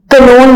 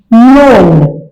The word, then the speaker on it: known: कनोन नहीं कहेंगे इसको, नोन। तो के क्या हो गया? खामोश।